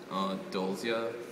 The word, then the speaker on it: Dolzia: Also, my Tumblr is pronounced Dolzia, if you're interested. Because, like, it's spelled kind of weird, so a lot of people have difficulty trying to pronounce it.